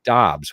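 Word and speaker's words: Doubs: And then Romeo Dubs, who had, it's Dobbs, which is the crazy play. Dobbs, yeah, We right. all said Dubs, and then like midway through preseason, he was like, "No, it's Dobbs," and we were like, "Damn it!"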